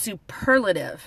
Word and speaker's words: superlative: of at the end but the per PE R that's the part that gets the emphasis here like in super